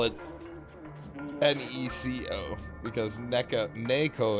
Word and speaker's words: Neko: it n-e-c-o because NECA Naco in Japanese is n-e-k-o technically even though it's technically nay and KO uh I don't really